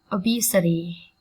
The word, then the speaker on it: obesity: Obesity, obesity, obesity, obesity. Trọng âm dâm tiết thứ hai các bạn nhé. Âm tiết B. Obesity.